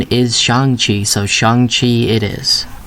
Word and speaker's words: Shang-Chi: included a lot of people have been saying shang chi but apparently the correct pronunciation is shang chi so shang chi it is anyway i wanted